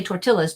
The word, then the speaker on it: tortilla: the way it sounds that Double L remember in Spanish makes a y sound like a yeah but we don't say tortillas do we we say tortilla here's another Double L